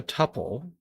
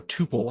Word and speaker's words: tuple: Uh we can return multiple values using a tuple or tupil, however you like to pronounce that.